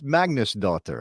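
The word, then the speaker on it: Magnúsdóttir: I'm trying, but it's Magnusdóttir. I don't think it's that hard. Like as Icelandic names go, Magnusdóttir is not a hard one, right? That's it's pretty phonetically simple for me to say Magnusdóttir, right?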